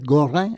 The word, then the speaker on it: Gorin: Aquí tienen otro apellido europeo de origen francés, en este caso Gorin, que es Goran en eh un poco en en la pronunciación correcta, ¿no?